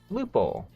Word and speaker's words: Floople: Next up, we have the Floople. Am I saying that right? It had a pronunciation. Pronounced Floople. Yeah, I'm saying it right.